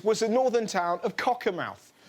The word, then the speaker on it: Cockermouth: the northern town of cocker mouth that's that's how you pronounce it Cocker mouth this isn't Katie Spencer